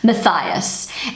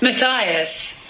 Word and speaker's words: Matthias: So in Kiwi English, this name is pronounced Matthias. And in British English it is pronounced Matthias. And in German the name is pronounced Matthias.